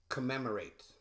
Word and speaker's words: commemorate: The C, it makes a K sound. And then the CO together makes a KA sound. So you can see I spelled it KA-MEM-OR-ATE. Commemorate. So also one of the first two M's drops or is silent. You can see that that's a reduction. You don't really stress the double M. It's not commemorate. It's just commemorate.